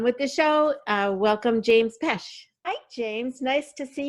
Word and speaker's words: Pesch: And there's a hidden C in there. So it's James Pesch is Pesch. But a lot of people forget the C because, if you spell it phonetically, nobody would think of that.